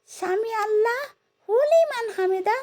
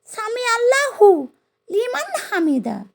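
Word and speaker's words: سمع الله لمن حمده: কোরআন ও হাদিসে শুধু উচ্চারণ এবং নির্দেশ অনুযায়ী সামি আল্লাহু লিমান হামিদা। সঠিক। সামি আল্লাহ হু লিমান হামিদা উচ্চারণটি ভুল। কারণ এখানে লিমান শব্দের স্থলে হু বা হুলি ভুলভাবে উচ্চারণ করা হয়।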